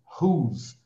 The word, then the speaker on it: whose: Então, lembrando que esse whose, olha a pronúncia, whose, tá?